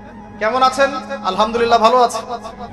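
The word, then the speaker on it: الحمد لله: আলহামদুলিল্লাহ ভালো আছি। তাই না? কেমন আছেন? আলহামদুলিল্লাহ ভালো আছি। তো আলহামদুলিল্লাহ না বলে সে বলেছে আলহামদুলিল্লাহ। যে হা এর উচ্চারণ পরিবর্তন হয়ে গেছে।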